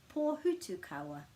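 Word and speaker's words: Pōhutukawa: So that's what that star refers to, and that's the pronunciation, Pō Hutu Kawa.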